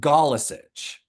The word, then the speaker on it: Galesic: It's pronounced Galesic. But like I made a creative decision at one point. I was like, I'm not going to Americanize this. I'm going to just say it the way my ancestors said it.